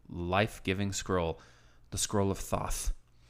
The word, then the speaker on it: Thoth: scroll, the Scroll of Thoth. It's Thoth, so I think it's Thoth. Yeah, that's how they say it in the movie. It's like sauce with a lisp.